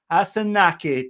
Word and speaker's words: Asanache: guest here joining us today the chief lucia asunaki did i get it right lucia great great pronunciation thank you welcome michia how are you